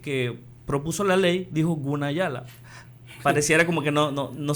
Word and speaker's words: Gunayala: de que ellos dicen, "Se escribe con G, pero se puede pronunciar con K, ¿verdad? Pero no hacen énfasis." Allá voy. Cuando escuché a la diputada que que propuso la ley dijo Gunayala.